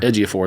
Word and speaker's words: Ejiofor: How do you pronounce his name? Ejiofor. Ejiofor.